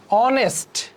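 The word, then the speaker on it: honest: একটি ঘোড়া স্টোরিয়ান হিস্টোরিয়ান দুইটাই হ এর মত উচ্চারণ হইছে দেখেন আবার অনেস্ট অনেস্ট দেখেন আছে কিন্তু এইচ হ এর মত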